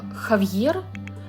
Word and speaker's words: Javier: Но на самом деле его имя произносится как Хавьер, но пишется оно почему-то через J.